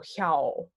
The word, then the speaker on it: hjá: We've got the accented A is ow, so hjá is the word here.